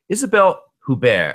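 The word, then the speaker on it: Isabelle Huppert: know Hugh Grant could go through as well Isabelle hubar am my pronouncing her name correctly you are she um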